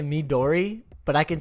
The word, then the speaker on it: Midori: how to say this midori midori i've seen many episodes on nickelodeon what dora the explorer okay and it sounds like what you're saying is me dory okay dory yeah s.u